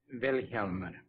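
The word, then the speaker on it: Vilhjálmur: steffanson will you tell me the correct way to pronounce your name very helman the accent on the first syllable really Elmer Elmer Val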